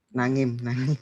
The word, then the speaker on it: Naim: Naim atau bagaimana bacanya Kak? Naim, betul? Nangim. Nangim aja, Nangim.